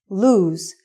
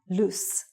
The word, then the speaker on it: lose: did you lose your cell phone also the pronunciation is lose and not loose next one this is an academic course this